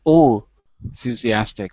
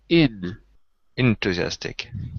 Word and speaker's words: enthusiastic: a little bit better because you said all enthusiastic but it's in enthusiastic yeah it looks like